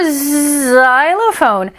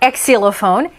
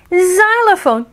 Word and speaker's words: xylophone: english is whacky yo x is for zylophone not exilophone xylophone javier's extra r made